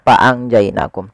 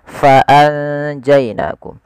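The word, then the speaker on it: فَأَنجَيْنَاكُمْ: Kemudian fa'anjainakum, di sini ada bacaan ikhfa pada lafal anja, tapi sebelum itu ada huruf fa, harus dibaca dengan fa pakai f, jangan pakai p, jangan fa'anjainakum tapi fa'anjainakum.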